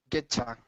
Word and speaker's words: get you: on this next one get you becomes what Alejandro getcha getcha very good okay okay